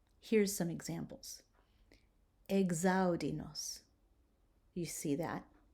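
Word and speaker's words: exaudi nos: X in words beginning with an EX that are followed by a vowel or an H or an S will be pronounced Gs, Gs, instead of X.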